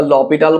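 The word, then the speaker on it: L'Hôpital: বানানটা এরকম এরকম যেরকমই হোক না কেন, সেটা নিয়ে আমাদের কিছু যায় আসে না, এরকম অ্যাকচুয়ালি বানান, বাট আমরা এল হসপিটাল বলে থাকি, হসপিটাল বলে যা ইচ্ছা বলো, বা লপিটাল বলো অনেকে।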